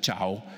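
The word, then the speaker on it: 桥: I would like to show you that in Chinese, bridge is pronounced ciao.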